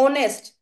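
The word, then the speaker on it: honest: जैसे कि मैं बात कर दूं ऑनेस्ट, इसमें एच साइलेंट है, आर इसमें एच साइलेंट है, तो वोवल की साउंड आ रही है तो एन लग जाएगा।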